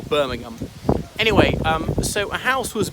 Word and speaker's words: Birmingham: This one, and usually if it's not the first syllable, it's just that the H is silent, like Fulham, not Fulham, or Birmingham.